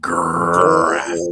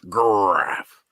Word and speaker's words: Graph: If anybody has ever wondered how this name is pronounced, that is how it's pronounced. Graph. Ralph. Like a Tony the Tiger saying great, but he just ends up talking about lunch. Graph.